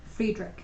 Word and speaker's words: Friedrich: Friedrich. Friedrich. It's Frederick with an extra I. It's spelled like fried rich.